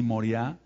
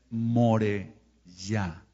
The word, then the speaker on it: Moriá: mí hemos ministrado que el monte se llama moriá se se se pronuncia así moriá pero en realidad es more ya more quiere decir Maestro ya yahua ahí en